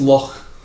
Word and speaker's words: Loch: No, it's pronounced Loch. Loch. Like you have to say it like Arabic.